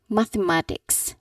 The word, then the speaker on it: mathematics: But here the proper pronunciation of this word is that you should say all syllables clearly. So it is mathematics.